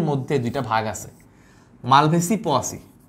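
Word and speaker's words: Poaceae: ভাগ আছে মালভেসি পোয়াসি মালভেসি পোসি বা পোয়াসি আমরা উচ্চারণ সুবিধার্থে লেখার সুবিধার্থে আমরা হচ্ছে পোয়াসি বলে বাট পোসি হ্যাঁ তাহলে মালভেসি এবং পোসি বা তুমি পোসি টুসি পড়ার দরকার না তুমি পোয়াসি পড়ো এতে করে তুমি অন্তত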